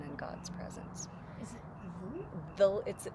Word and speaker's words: Dhul: Is it Dhul? It's spelled with a D-H, U-L, but the DH makes a the, kind of like a TH, a soft TH sound in English.